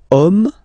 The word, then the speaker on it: homme: And then here we've got the word homme, man, okay, but then it starts with H, as in French H is not pronounced, so the first sound that we hear is O, okay, and then it will follow the same rule.